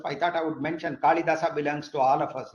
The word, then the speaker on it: Kalidasa: from ancient time onwards kalidasa all of you know I don't I'm pronouncing in sanskritic way kalidasa I say I don't say kalidas okay so kalidasa actually